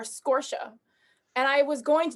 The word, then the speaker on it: Scorcia: thing is is that my last name is pronounced differently by everybody in my family and i haven't decided if i wanted to say scorcher scorsia or scorsha and i was going